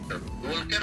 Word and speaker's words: Walker: Walker, no? Sorry Please. Naku. Laki palang tanga tong vlogger sa ito. Yung pagbasa ng Walker niya, kasi silent L yun.